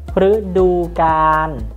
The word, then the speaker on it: ฤดูกาล: First of all, if you place this consonant before another Thai word, it will be pronounced as R, R. For example, R du gan, R du gan.